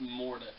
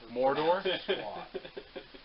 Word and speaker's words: Mordo: It's Mordo. Just so you know, Anthony, my dad can't pronounce things very I well. can't. Mordor? No, it's not Mordor.